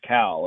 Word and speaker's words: Khal: As a matter of fact, that his name is Cal Stephen. It's spelled Khal, but it's pronounced Cal.